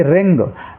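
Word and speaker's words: wring: डब्लू इसमें silent रहेगा ऐसे ही रिंग डब्लू आर आई एन जी यहां डब्लू से शुरू है बाद में आर है तो डब्लू को हम उच्चारित नहीं करेंगे इसको रिंग पढ़ेंगे ब्रिंग नहीं पढ़ना है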